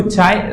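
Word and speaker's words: χ: denote करते हैं इससे जिसको हम चाय भी बोलते हैं ठीक है इसको हम अब अगले अलग-अलग बुक्स अलग-अलग नाम देती है पर इसको चाय प्रोनाउंस किया जाता है एंड इसको ससेप्टिबिलिटी कहा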